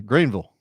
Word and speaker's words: Greenville: Yeah, Green Greenville, South Carolina. Greenville. Green. You got to say it like that.